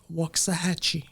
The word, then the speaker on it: Waxahachie: uh how do you say that Waxahachie Waxahachie Waxahachie and I know Dr Hannah you're more